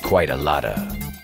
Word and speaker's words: quite a lot of: Pronunciation. Quite a lotta.